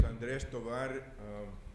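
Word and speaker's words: Andrés Tovar: My name is Andres Tovar, and I'm an immigrant. I was born in Texas. But anyway, I'm retired from the U.S. Department of Education. I pronounce my name in Spanish, and everybody assumes I just got here.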